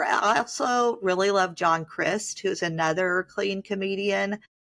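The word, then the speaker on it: Crist: C R I S T like Christ but not okay. No H.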